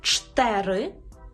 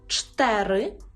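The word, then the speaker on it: cztery: сьомий Наш секрет стосується двознака цз яке читається як ч тверде ч ч наприклад у слові чтери чтери і стосується ц з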